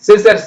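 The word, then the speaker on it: scissors: இ சி இஸ் சிஸ் எஸ் ஓக்கு சா இஸ் சிசர்ஸ் வந்துருச்சு பாத்தீங்களா சிசர்ஸ் படிக்க முடியுது சிசர்ஸ் இது பாருங்க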